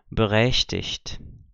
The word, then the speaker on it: berechtigt: Esse T está acompanhando aqui o G, não forma uma nova sílaba. Ok? Então, aqui eu tenho beschäftigt, predigt, berechtigt.